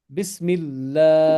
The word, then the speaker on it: बिस्मिल्लाह: this one बिस्मिल्लाह हां ये लंबा करो बिस्मिल्लाह बिस्मिल्लाह वेरी गुड दैट मींस